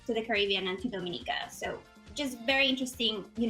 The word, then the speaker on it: Dominica: so as i mentioned it's not the dominican republic it is yes correct pronounce dominica and then to avoid